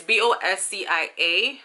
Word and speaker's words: Boscia: Is it Boscia or Boscia? It's Boscia. I might have butchered the name, but this serum is really, really nice, you guys.